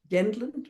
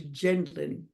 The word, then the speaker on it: Gendlin: a an import and his name when he was living in Europe was gendin but he changed it to gendlin it's still spelled the same